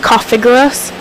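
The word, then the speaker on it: Cofagrigus: Now, I think its name's pronounced Cofiguras, but I'm probably wrong, because like I've mentioned before, I don't really watch the anime anymore.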